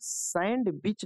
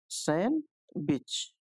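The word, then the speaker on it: sandwich: जो साइलेंट आपका मिलेगा ये सैंड बच नहीं पढ़ते हैं सैंड ड ठीक है सैंडविच का पढ़ते हैं इसे सैन विच इसके सांड इसमें डी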